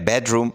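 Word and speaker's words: bedroom: second saleable stress है इसके बाद है बेडरूम बेडरूम में फर्स्ट सेलेबल स्ट्रेस है इस तरीके से है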